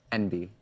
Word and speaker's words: enby: And how do you pronounce that? Enby.